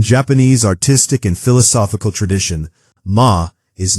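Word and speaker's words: 間: It is written with the character ma, and it is pronounced ma.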